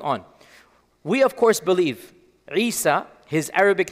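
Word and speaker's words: عيسى: his language he never called himself Jesus this is a latinized uh a latinized transliteration of Esau is most likely how he pronounced it in Aramaic and in Arabic Isa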